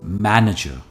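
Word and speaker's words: manager: सही प्रोनाउंसिएशन है मैं, यहां पर स्ट्रेस है नजर, हम एंड में आर प्रोनाउंस नहीं करते, इट्स मैनेजर.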